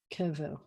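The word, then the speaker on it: קבר: you see the two so the accent is going to be on the first syllable it's kevl this word you probably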